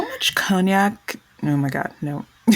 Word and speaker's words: Cognac: already been read to filth for saying like conac like it's Kan it's like the one French